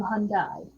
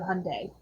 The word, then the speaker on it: Hyundai: they get really upset if you call them hun down instead of Hyundai which is interesting because in the Korean yes